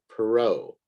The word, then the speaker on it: Perrault: the chapter and then um another name is perrault and this is a french name so it's a it's a funny pronunciation for the spelling but let me give